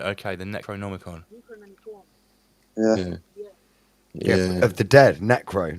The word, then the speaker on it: Necronomicon: Right, Necromicon. How do you pronounce it?